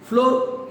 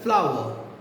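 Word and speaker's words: flour: फ्लावर means आटा. फ्लोर, ये pronunciation फ्लोर नहीं होता है, फ्लावर.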